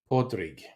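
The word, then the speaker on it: Pádraig: Podrig.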